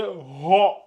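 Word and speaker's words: ر: ha ha celui-là c'est ro ro souvent quand les élèves comprennent pas je rajoute un o ici vraiment c'est ro c'est ro ro vous gardez bien la bouche comme ça ro ro c'est Ro et ça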